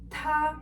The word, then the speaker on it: 他: The pronunciation is not going to change for these three options, but the character is going to change, as you can see on screen.